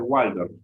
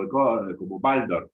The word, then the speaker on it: Waldorf: yo, mirá, es muy latino decirle Waldorf con la W, pero como Rudolf Steiner, alemán, entonces se pronuncia como Waldorf.